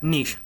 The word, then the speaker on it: niche: Adjective that rhymes with sheesh or pitch, depending on who you ask. Niche.